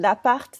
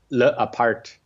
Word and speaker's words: L'Appart: I have to say L'Appart.